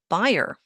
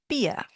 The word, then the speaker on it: Bier: If I had not pronounced it for you, Bier, maybe you would have said Bayer. Well, this word is pronounced Bier.